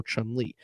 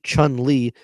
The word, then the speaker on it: Chun-Li: CHUN space LI, which Chun-Li, that is a pronoun, that is a person, okay? And it sounds exactly the same with the right speed and pronunciation as emotionally, EMOTIONALLY.